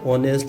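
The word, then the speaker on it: honest: ऑनेस्ट H silent रहता है, ठीक है।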